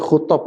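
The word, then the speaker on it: خطب: Tadi khutob bukan khutub ya, khutob ya. Khutbah jamaknya khutob ya.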